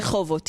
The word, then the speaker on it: Rehovot: It's called Rehovot. Did I say it correctly? Rehovot, yeah.